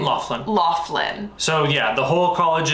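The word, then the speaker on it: Loughlin: how do you say her last name Laughlin Laughlin so yeah the whole College admissions scandal with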